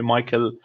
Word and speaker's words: Michel: lot of people call me Mike but the Michelle is the official one so the family calls me Michelle but the friends call me Michael so I'm pretty used for both I call